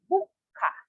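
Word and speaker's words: 物価: now for commodity prices it is read as bukka so the note tau i false between bu and ka and then added adding a small k or should i say another k after the because of the small su so in romaji this one would be written as b u k yes small two is like representing a double consonant okay again notice a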